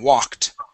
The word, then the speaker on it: walked: Okay, now we've gone over the S sound, okay, introduced, produced, okay, as well as a K sound that has a T, walked, okay?